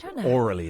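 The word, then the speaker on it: aurally: Orally is how it's pronounced.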